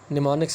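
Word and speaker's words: mnemonics: को निमोनिक्स कहते हैं यह स्टार्ट में ऐ माता है लगे थे इमेज आईएस साइलेंट है है सो इसको हम निमोनिक्स पढेंगे for example IS यूबी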